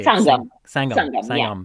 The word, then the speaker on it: Sangam: Sangam, Sangam, yeah, Sangam. It's a little yeah. bit more of the Sangam. And that Yes. actually literally means come together. Is that right? Yes, Is that kind Sangam in Sanskrit means confluence, of and it's confluence?